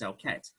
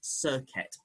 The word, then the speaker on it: Serket: So I use as close as I can, and that is Serket.